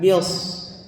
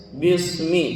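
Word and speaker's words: بِسْمِ: Jangan bios. Bismi jangan ya, tapi bis gitu ya. Desisannya terasa ya. Jadi sin itu mendesis. Mendesis itu apa istilahnya? Sofir, betul ya. Jadi ada sifat sofir pada sin. Pengucapannya harus desis.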